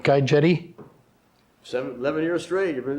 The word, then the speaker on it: Guy Jette: Am I pronouncing that right? Guy Jette?